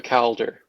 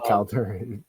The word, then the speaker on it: Calder: You said Caler. I was like, I've never heard that. It sound like that's what you said. Anyway, the pronunciation caught me off guard is all I'm saying, but yeah.